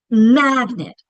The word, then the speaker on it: magnet: Which syllable is getting the accent? Magnet. We're stretching. We're saying that first syllable longer with more emphasis. That's why I tornadoed it. It's a closed syllable. The second syllable, that e is saying it. Magnet. It's not saying its usual e sound because it's unacented and it has the schwah.